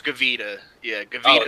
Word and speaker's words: Gavita: He said Gravita. Yeah, however the fuck you pronounce it. Buddy. It's off-brand, right? Or is it an actual Gavita? It's Gavita.